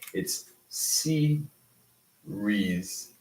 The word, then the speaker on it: series: Bushra also, that said that series has 3, but it doesn't. Okay? It has 2. Why? Because Siri would be the singular, right? And we're just saying the plural with an S. So IES is not a separate thing. It's series. Series. Exactly.